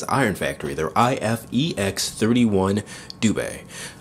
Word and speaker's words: Dubhe: Factory their ifex 31 dub or du not really not really sure on how to pronounce that the translation or pronunciation that I looked up was du so that's what I'm going to go ahead and go with this is of course